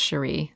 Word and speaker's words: Cherie: by Sheree Jones um I hope it's pronounced Sheree c h e r i e Sheree Jones pretty name